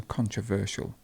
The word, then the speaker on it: controversial: then we have contributor notice here how you have the stress in the middle a contributor controversial controversial their stress is the stress is in the middle in this word so controversial and controversy and controversy